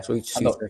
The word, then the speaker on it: Souček: You know, I know they've got is it pronounced Souček, West Ham? Yeah. Souček, yeah.